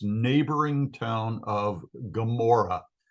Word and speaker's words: Gomorrah: its neighboring town of Gomorrah. Sodom and Amorah, the G isn't pronounced in Hebrew.